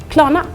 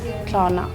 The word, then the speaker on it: Klarna: Yeah, so I can also hear you pronounce the R's pretty strongly. I don't pronounce it that hard. Klarna. And you also pronounce the A's differently. Well, first is like and the other one is like ah. Yeah, the first one is like in the middle and the second one is like in the end.